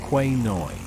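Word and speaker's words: Khwae Noi: The city of Kanchanaburi is nestled at the confluence of two major waterways, the River Kwai Noi, in Thai pronounced Kwai Noi, and the River Kwai Yari or Kwai Yari, each with its own unique character and historical importance.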